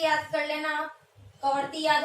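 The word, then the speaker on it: Kavaratti: और यहाँ पर है हमारी लक्षद्वीप की है कवरती, ठीक है, इसको कावारती भी बोल दो आप, प्रोनाउंसिएशन शब्द अलग अलग मिलेगा आपको।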